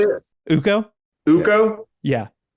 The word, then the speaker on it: Ukko: Ukko? Yeah. Yeah, it's Ukko.